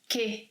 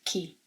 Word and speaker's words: que: it also must be pronounced with emphasis as que and not ki.